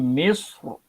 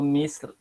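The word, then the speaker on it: مصر: dia boleh baca tafkhim, dia boleh baca tarqiq tapi kita utamakan tebal tafkhim. Cara baca dia, kat sini Ustaz bacakan bimisr, bimisr, mim misr, udkhulu misr, mulku misr. Macam tu. Kita utamakan tebal. Tapi nak baca nipis pun boleh.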